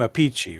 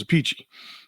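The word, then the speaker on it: Appice: technically wrong it's it they're both named a Pachi right well Carmine a piece and Vinnie aathy yeah right and their sister is the only one that uses the actual pronunciation which is aichi so it's like what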